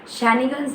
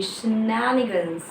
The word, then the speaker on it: shenanigans: शैनिगन्स नहीं है ये, शेनानिगन्स.